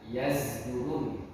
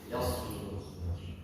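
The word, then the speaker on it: يصدر: Zai, huruf zai, huruf zai ini zulzila. Tapi kita yang baca pakai huruf. Ya. Yasdurun. Yasdurun sama. Ini cuma perbedaan cara baca. Kita Imam Hafaz dan Asim harus baca pakai shad. Yasdurun.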